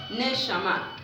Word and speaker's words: neshama: Aliento significa neshama, acento en la A.